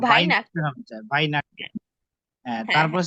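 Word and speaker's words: Weihnachten: না ভাইনাকটেন ভাইনাখটেন হবে, ভাইনাখটেন।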